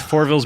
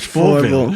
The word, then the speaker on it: Fourvel: It's not Fourville. Fourvel. Fourvel. I I feel mean, like you're we- really laying into that ill. It's just Fourvel. Like you just say it like natural, like Fourvel.